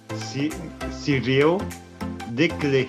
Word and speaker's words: Cyril Desclés: Cyril, me ajuda aí na pronúncia do seu nome bonitinho para todo mundo saber, porque o meu francês não vale. O meu nome é Cyril Declé.